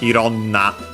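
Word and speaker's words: いろんな: then to a noun And then it gets contracted instead of iroiro na ironna Still an adjective Yatsu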